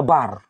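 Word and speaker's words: בר: Kalau hanya bet dengan res, dua huruf yang pertama itu, maka dia cara bacanya bar.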